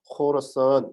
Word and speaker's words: 호라산: 호라 사는 필요시 알아서 페르시아 발음으로는 헐어 썬 정도가 되구요 어 하락으로 도 이렇게